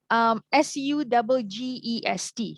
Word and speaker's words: suggest: But Malaysians, we tend to say as suggest or suggest. But the SU in the spelling, you just go really light on it.